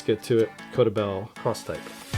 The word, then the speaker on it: X-Type: came out with this cross type X-Type cross type is how they say it where it's a backpack